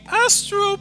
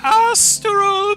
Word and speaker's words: astral: we welcome to the astop plane you guys You' have been to the astral plane before Claire no you're saying it wrong it's the astral plane sorry you've been to